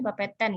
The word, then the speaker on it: Bapeten: Bapeten itu bacanya Bapeten ya. Kalau Banten kan Banten.